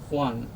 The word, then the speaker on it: won: আচ্ছা, WON এটার উচ্চারণ আমরা করি এইভাবে, উচ্চারণটা এইভাবে ওয়ান বললে কারেক্ট হয়।